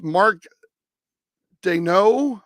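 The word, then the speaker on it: Mark Daigneault: the year and it's Mark Doo I believe like the French pronunciation of it Mark Doo Chris Finch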